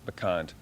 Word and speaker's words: Bant: that caught our eye was ban I think is how it's pronounced is that correct yes it's bant and that's a it's